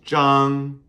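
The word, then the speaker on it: 张: The next one we learned was Jang. Jang. Z H A N G first tone and that was for flat things.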